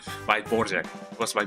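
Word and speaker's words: Dvořák: I believe it was by by no borak I not not the Borak by Borjek. It was by Borjek.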